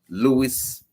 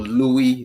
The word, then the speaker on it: Luis: football world is concerned Louis or Louie depending on how you want to pronounce it Louis uh sharez has